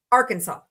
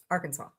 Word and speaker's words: Arkansas: Per the state code, the only acceptable pronunciation is the three syllables with the final S silent and the A in each syllable with the Italian sound and the accent on the first and last syllables.